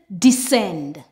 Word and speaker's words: descend: When we have a combination of S and C together, the C is silent and we just pronounce the S sound.